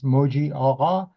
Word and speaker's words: Moji Agha: Is it Moji Aga? Did I pronounce that correctly, Moji? Yes, hi, it's Moji Agha, Moji.